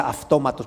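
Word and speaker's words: αὐτόματος: Entonces, cuando la transliteras al castellano, si la escribes, se la escribiría, o al inglés se escribiría como automatos, pero se pronuncia autómatos, pero es irrelevante cómo se pronuncie.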